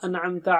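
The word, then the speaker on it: أَنْعَمْتَ: An'amta alayhim. An. Should be very clear. It's not anamta. It's not anamta. No. An'amta.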